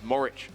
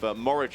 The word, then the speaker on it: Morich: But one correction we just make, speaking of grammatical knowledge, the Oracle Ray Abbott has just informed us it's William Joseph Morich, the correct pronunciation of this sculler from Wesley College, Perth, who finished in 3rd place in that heat.